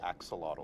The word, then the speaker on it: axolotl: We're all going to learn how to say axolotl.